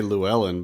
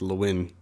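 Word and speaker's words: Llewyn: I want to say Llewellyn, but I know it's not. It's like Luin.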